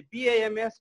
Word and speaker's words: BAMS: डब्लुएचओ पनि भनिन्छ होइन त्यस्तै बिएएमएस ब्याम्स पनि भनिन्छ बिएएमएस बिएएमएस पनि भनिन्छ सो बिएएमएसलाई ब्याम्स भन्नुभन्दा पनि बिएएमएसलाई बिएएमएस नै भन्दा बेटर सुनिने राम्रो रिजल्ट